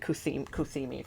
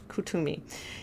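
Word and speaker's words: Kuthumi: wisdom let me read cus cimi for you because I feel like that's important okay hold on Cami uh let's see oh pronounced C I'm sorry cumi Kumi is an ascended master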